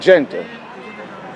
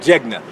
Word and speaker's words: jegna: Now you said Genta. Genta, right? Did I say it right? Jena. Jena. Jena.